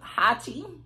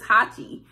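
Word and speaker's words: Hacci: what is the name Hachi I think that's how you pronounce it either I I believe it's Hachi um but it's a sweater knit and I know it's hot he h a c c I I believe don't quote me but um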